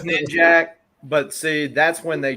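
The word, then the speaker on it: Ninjak: that as official gospel that is not pronounced ninja uh it is knit jack but see that's when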